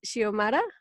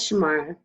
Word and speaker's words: Shomara: to another, introducing Miss Shomara, right? Mm-hmm. I got it right. Good. Yeah. If you want to say it the Spanish way, that's how you say it. Yes. But otherwise, Shomara. Shomara.